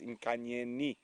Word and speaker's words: Nkanyeni: So it is with the I. I have been incorrect. I do apologize. It is Nkanyeni.